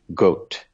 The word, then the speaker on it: Gott: That German word is spelled G-O-T-T, and it's pronounced in German Gott.